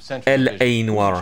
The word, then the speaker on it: L.A. Noire: Je devrais plutôt prononcer ça L.A. Noir. Parce que L.A. Noir, ça fait bizarre.